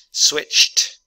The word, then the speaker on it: switched: Switched, so that's rule DT when your D here is pronounced like a T.